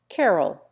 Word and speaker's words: Callowhill: Callowhill, down there, is commonly pronounced Carroll.